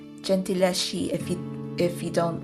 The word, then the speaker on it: Gentileschi: Oh God, Italian pronunciation, Gentileschi, if you don't like to read about sexual assault.